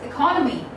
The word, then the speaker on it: economy: In British English, it is pronounced as economy. Economy. Economy. Just repeat after me. It's economy.